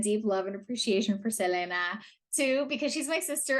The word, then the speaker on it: Selena: icon Selena or as she and her family pronounce it Selena and um yeah there's a lot to say